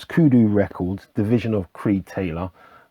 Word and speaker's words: Kudu: uh kudot Kudo label I thought it was kudos let me just double check if I'm mispronouncing anything no it's kudu records division of creed